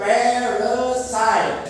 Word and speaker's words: parasite: Cara pengucapannya bukan begitu ya. Cara pengucapan parasit itu parasite.